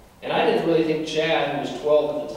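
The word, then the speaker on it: Chadd: high school he's a sophomore his name is chad i want to share with you a quick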